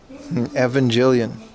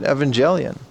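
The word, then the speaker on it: Evangelion: This is RC and already built Gundam racing boat Evangelian. That's how you pronounce it, dude. Evangelian, not Jillian. Evangelian.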